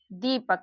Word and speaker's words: दीपक: फिर बड़ी ई की मात्रा इसमें लगी हुई है, तो यहाँ पर दीपक, दीपक, यहाँ पर देखिए इसका उच्चारण थोड़ा जोर से हो रहा है, जैसे कि इसको थोड़ा खींच करके हम लोग पढ़ा दीपक।